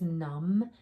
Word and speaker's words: numb: all right same thing a quiet b at the end that ghost letter b is at the end um if something is numb it means you can't